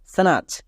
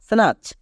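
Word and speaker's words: snatch: এর উচ্চারণটা কি দাঁড়ালো স্নাচ এখানে টি সাইলেন্ট আমরা জানি টি এর পরে সি এইচ থাকলে টি সাইলেন্ট তাই এখানে টি এর উচ্চারণ হচ্ছে না এস এন এ সি এইচ স্নাচ পরিষ্কার এই ছোট্ট ওয়ার্ডটিতে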